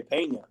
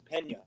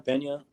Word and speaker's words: Pena: correct pronunciation you know if you're from idaho you say pena like i got a pain in my side which to a lot